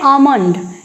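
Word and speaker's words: almond: इसको क्या पढ़ते हैं आल्मंड आल्मंड नहीं होता है क्या होगा आलमंड और ज्यादा है तो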